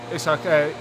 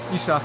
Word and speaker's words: Isak: up after 20 minutes isak isach sorry isach is how you say it as I was told